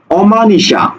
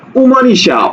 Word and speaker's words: অমানিশা: সংবৃত ওকে এবার দেখো অমানিশা অমান নিশা অ তাহলে এখানে আমরা এভাবে বলি না উমানিশা উমানিশা না শব্দটা হলো অ মানিশা অর্থাৎ এটা অই থাকবে এবার দেখো অটল অটল